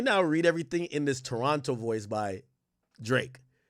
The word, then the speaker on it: Toronto: It's not Toronto, it's Toronto.